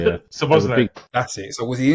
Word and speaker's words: Szoboszlai: I can't pronounce his name, so I'm not even going to make myself look stupid. Szoboszlai, yeah. Szoboszlai.